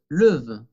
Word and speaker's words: lève: Porque ya tengo dos veces la E francesa, je me, y no puedo decir lève, ¿ok?